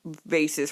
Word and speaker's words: vase: with a fetish for vases for some reason that's the weirdest part he likes to collect them yeah like no not just any vases expensive vases it's pronounced vas vas pick you up um